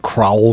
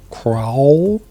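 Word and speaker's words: Kraul: work in limited um crowl stinger i'd tell you that's pronounced right k-r-a-u-l crowl you gotta get your lip movement in there crawl and now it's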